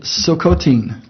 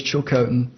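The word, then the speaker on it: Tsilhqot'in: and mention that the the nation is chilcon t-s-i-l-h-q-o-t-i-n they pronounce it silicotine the white man says chill coating they have been turned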